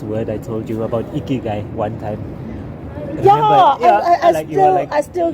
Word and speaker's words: Ikigai: Ikigai. Ikigai. It's not good. It's ikigai.